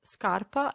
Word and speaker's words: scarpa: as you can see they only differ for the letter i which makes a huge difference because the i tells us that instead of a heart sound scar we need to soften the sound and pronounce sha as a memory tip